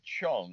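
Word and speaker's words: Zheng: person behind it olivia chung even though it's spelled z-h-e-n-g it's pronounced chung uh dear friend i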